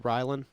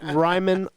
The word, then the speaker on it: Ryman: Alaska was most recently, I saw y'all did the Ryland. The Ryman? Ryland? Yeah. I'm sorry, I said it wrong. 3, 2, and 1. Yeah. And Edit. go. Yeah. Ryman Auditor.